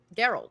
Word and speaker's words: Gerald: Is Logan just an asexual Gerald Gerald? Sorry, that's a hard G for Gerald.